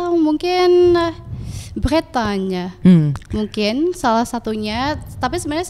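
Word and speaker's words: Bretagne: Kak si bretanya ini spellingnya gimana sih Kak b r b r e t a g n e tapi kalau pronounce-nya bretanya beretanya beretanya jadi si the city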